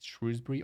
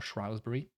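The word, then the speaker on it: Shrewsbury: want to say shrewbury I think there's been a debate is shrewbury or shury to me the spelling would suggest shrewbury but spelling is not really the way to determine pronunciation in English anyway uh in herid show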